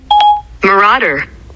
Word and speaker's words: marauder: Hey Siri, how do you pronounce this word? Marauder.